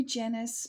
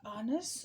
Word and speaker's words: Janice: name is Janice and we say Janice because we're English but uh it is actually uh honest so I'm very privileged